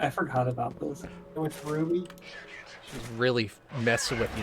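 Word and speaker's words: RWBY: That's That's cool. how it's spelled, R-W-B-Y, Ruby.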